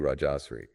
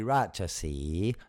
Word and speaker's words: Rajasi: You don't pronounce the R, so it would be Rajasi, not Raja Sri.